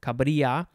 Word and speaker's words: cabrilla: Next, we have cabrilla, cabrilla, C-A-B-R-I-L-L-A, similar to caballero with the double L. It's a yuh sound, cabrilla, noun from circa 1839.